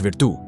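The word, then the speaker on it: virtù: वितु pronounce विदु उन्होंने एक अलग सेंस में यूज किया।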